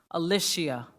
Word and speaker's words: Alicia: your name properly because I practice and I always add extra syllables to your name but it's Alish Alicia yes ma'am I I always add the why somewhere so Alicia thank you very